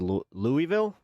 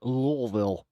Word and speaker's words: Louisville: Louisville. It's like what the ul like Lewisville.